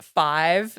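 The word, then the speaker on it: F5ve: are an all female electronic dance group called five but it's pronounced it's spelled F5 ve and they I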